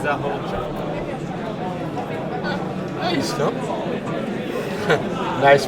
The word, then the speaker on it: Zahorcak: surname I think it's Zahorcak. is no? Nice pronunciation.